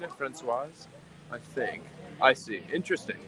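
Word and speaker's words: Françoise: Okay, the masculine version, Francois, you don't pronounce the S. The female Francoise, you do. Is that right? Am I saying it? Francoise?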